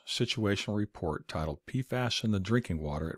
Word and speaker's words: PFAS: 4,000 plus molecules and is abbreviated pfas and pronounced pasas this poison continues to